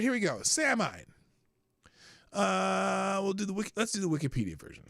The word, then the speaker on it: Samhain: Samhain, it's pronounced Samhain.